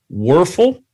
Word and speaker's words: Wuerffel: In his senior year, Joel received the prestigious, and you may have to help me with this, Wuerffel Trophy. Did I say it right? Danny Wuerffel, yeah.